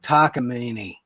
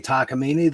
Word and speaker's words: Takamine: It's like Takamine. Nobody's going to say Takamine. They're going to say Takamin. It looks like Takamine.